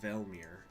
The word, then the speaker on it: Velmir: Yeah, it's like Velmir. Like hell with a V. So Helmir, it's Velmir.